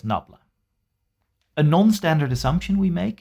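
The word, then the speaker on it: nabla: gradient is shown here this symbol is pronounced as knobla a non-standard assumption we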